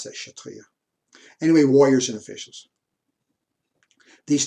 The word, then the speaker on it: Kshatriya: Looking down, I don't believe you pronounce the K.